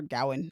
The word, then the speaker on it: Gawain: him and Dev Patel Gawain is on the ground, or Gowan, I guess it depends on how you pronounce it.